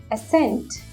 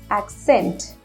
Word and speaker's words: accent: on your accent we sometimes call it as ascent it's absolutely incorrect the correct word is accent a-c-c-e-n-t accent similar to this you need to